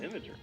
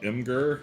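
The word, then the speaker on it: Imgur: Is that how you pronounce it? Imager. Probably. I used to call it Immur, but that's wrong.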